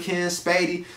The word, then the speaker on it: Lakenn Spady: media oh you already know it's your boy ken spady like you know what i'm saying that's on facebook yeah yeah facebook spell it out l-a-k-e-n-n s-p-a-d-y you know what i'm